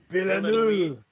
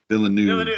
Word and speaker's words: Villeneuve: Villeneuve. Villeneuve.